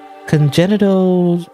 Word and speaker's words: congenital: you know like genitals when I see genital I think of genitals but it is pronounced the same way so there you go